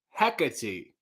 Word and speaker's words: Hecate: friend from athens greece put the stress on the first syllable so uh so do i heck hecate getting better nail said i'm confused